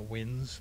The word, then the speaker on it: winze: I believe it was called W-I-N-Z-E, a winze. Maybe it's Y-N-Z-E, but it was pronounced a winze.